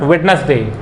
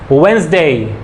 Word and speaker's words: Wednesday: जैसे हम मंडे, तो मंडे नहीं होता है, that is not Monday, it's Monday, Monday, ट्यूसडे, वेंसडे, it's not Wednesday, Wednesday, Thursday, Friday।